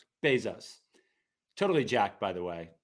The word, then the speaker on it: Bezos: Bezos. Bezos.